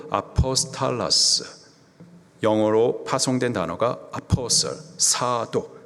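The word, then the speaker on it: ἀπόστολος: 사도, 헬라식 발음으로 아포스탈라스, 영어로 파송된 단어가 아포스톨, 사도.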